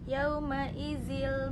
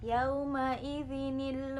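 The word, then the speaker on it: يومئذٍ: Tapi di sini kan kalau kasrohnya dua berarti dibacanya yauma izil masak. Tidak seperti itu, tapi dibacanya yauma idzinil masak.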